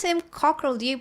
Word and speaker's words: Cockerell: I pronounce him Cockrell. Do you pronounce it Cottrell? No, Cockerell.